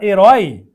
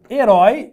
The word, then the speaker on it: herói: eu falo a palavra herói herói é uma oxítona A e termina com essa junto aberto herói Então aqui tem acento aqui não tem opção e a oxítona mantém o acento herói certo caubói agora